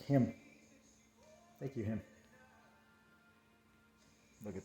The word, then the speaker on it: Jim: you jim you know how do you say jim and spanish it sound more like like the j sounds like an h right so it's like him thank you him look